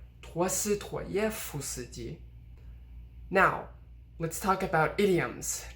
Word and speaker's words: 陀思妥耶夫斯基: So for instance, this is Dostoevsky. 陀思妥耶夫斯基。陀思妥耶夫斯基。I'm not saying 陀思妥耶夫斯基, but rather 陀思妥耶夫斯基.